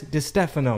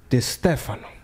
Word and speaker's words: Distefano: We got Chris Distefano. Yes. Did I say it right? You nailed it. Man, let me do it one more thing. Chris Distefano.